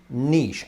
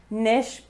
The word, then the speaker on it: niche: for either of us i would say niche a niche market what would you say nish but also niche and often with americans